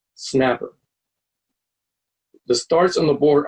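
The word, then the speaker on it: SNAPR: letters for example the spelling of the s and apr departure is pronounced snapper the starts on the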